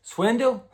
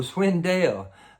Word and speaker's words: Swindell: I said Swindell. Swindle. I said Swindle. His name is Swindell.